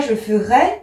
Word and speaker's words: je ferai: Attention, on prononce E ici. On ne dit pas je ferai, mais on dit je ferai.